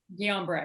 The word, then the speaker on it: Guillain-Barré: mom was diagnosed with, and how did you pronounce it? Guillain-Barré? Guillain-Barré.